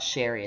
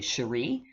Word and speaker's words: Cherie: my name in print my name is not sherry it's actually cherie um the french pronunciation so i got them